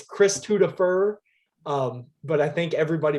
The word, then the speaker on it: Christwodafur: like mine is like that because it's it's chris tudofer um but i think everybody pronounced it as oh yeah it's chris t woodifer yeah that's that's his name um uh yeah